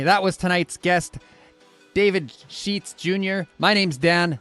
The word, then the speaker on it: Scheetz: going on everybody that was tonight's guest David sheets junor junor my name's Dan this is hard